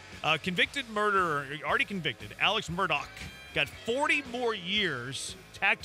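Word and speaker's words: Murdaugh: you see this actually I think it's pronounced Alex Murdoch oh yeah the guy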